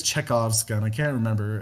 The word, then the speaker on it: Chekhov: gun or maybe it's chekhov's gun i can't remember how his name is pronounced if you're talking about the author the playwright is chekhov yes this is chekhov's